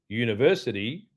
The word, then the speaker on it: university: University is a consonant sound, like a Y.